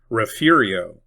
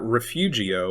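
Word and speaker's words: Refugio: Rafiio, it is not Refugeio or Refugeio.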